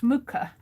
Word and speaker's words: Mucha: I think it's pronounced Muka.